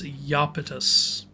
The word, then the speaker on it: Iapetus: Every time I see Iapetus's names, I want to pronounce it the Latin way as Iapetus.